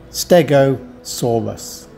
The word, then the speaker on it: stegosaurus: where it was discovered you say the name stegosaurus with four syllables like this stegosaurus thanks for watching don't